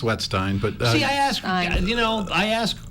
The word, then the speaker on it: Wetstein: wetstein and actually it's pronounced wetstein but you know I asked one okay yes I don't want to mess that up she was always wet steam no I answer the both but good afternoon everybody I apologize dr.